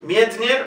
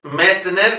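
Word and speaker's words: Medtner: Mietner, las dos es, se pronuncia ye. No es Mietner, como dicen en Radio Clásica.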